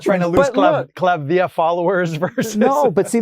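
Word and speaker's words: Klavdia: Well, cuz people think Claudia Claudia, you know, but it's Clavia.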